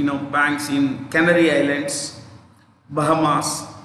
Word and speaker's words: Bahamas: You will find a lot of these kinds of, you know, banks in Canary Islands, Bahamas, yeah, Bahama, S is silent, Bahama, Canary Islands, Gibraltar, lot of these places.